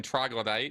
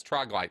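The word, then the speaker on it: Troglyte: all say yeah yeah by the way it's troglites oh troglite i'm sorry for those of you there who've been hearing troglodyte yeah it's troglite sorry sorry just looking at the wikipedia page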